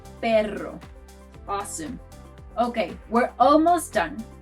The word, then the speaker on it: perro: But to do the harder version of the R, which is called R, you have to trill your tongue. Try both sounds. Pero, perro. Pero, perro.